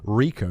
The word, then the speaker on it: RICO: It was your run-of-the-mill RICO trial for massive, widespread bribery of public officials and consultants. I'm not exactly sure what RICO is. I've heard of it, and I know it's pronounced RICO, R-I-C-O, but I thought it was to do